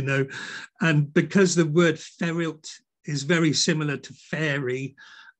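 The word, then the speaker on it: Fferyllt: There's a funny word, Ferilt, and it's spelled F-F-E-R-Y-L-L-T, Ferilt.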